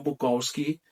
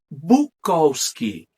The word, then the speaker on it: Bukowski: Também mudaram a pronúncia de seu sobrenome para Bukowski. Em contraponto, a pronúncia europeia e mais compacta, Bukowski, que até hoje aqui no Brasil muita gente chama Bukowski, mas a pronúncia que eles pegaram é Bukowski.